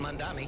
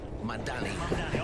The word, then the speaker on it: Mamdani: And Mamdani, I said it right? Mamdani, almost there.